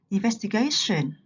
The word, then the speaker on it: investigation: Ở đây thì đối với động từ trọng âm rơi vào âm tiết thứ hai, vest, đúng không ạ? Sang danh từ trọng âm không còn ở vest nữa mà lại chuyển sang gay. Investigation.